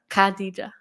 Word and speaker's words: Khadija: Kad oh Kad no not Kad say Kad Kadija yeah yeah she has British yeah well you